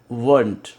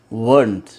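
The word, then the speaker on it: weren't: वर plus note वर्ंट, वर्ंट। ये वरंट नहीं है, वर्ंट है, वर्ंट, वर्ंट।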